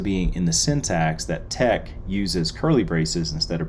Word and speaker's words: TeX: it's a particular type of markup script called tech and that's spelled t-e-x and was the precursor to latex